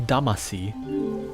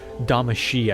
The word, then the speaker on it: Damacy: Damacy da machine yeah it's da mushy I think it's the way you're actually supposed to pronounce it but dama C is the way it looks if you're an English speaker but there's a level